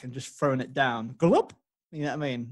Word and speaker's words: Gjalp: Yeah, it's spelled Gjalp, like when you take a swig of water. That sounds like someone's got an ice cream scoop in the Scrabble bag and just thrown it down. Gulp?